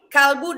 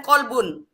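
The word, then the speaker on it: قلب: Kalbu dan kolbun. Kamu pikir sama? Kalbu artinya anjing.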